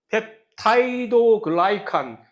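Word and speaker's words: 펩티도글리칸: 세균의 세포벽 이뤄진 주성분 펩타이도 글라이칸 펩티도 글리칸이라고 쓰고 펩타이도 글라이칸이라고 읽는다 그래서 영어로 읽으면 영어로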